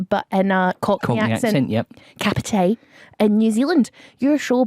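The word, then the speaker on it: Kāpiti: looked it up and the way you say it is capite in New Zealand so it's like saying cup of tea but in uh yeah capite in New Zealand your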